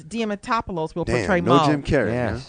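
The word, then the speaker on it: Diamantopoulos: your Curley and Chris DM Tatopoulos will portray Moe I just butchered his name like that mean it's Chris dematopolis will play Jim Carrey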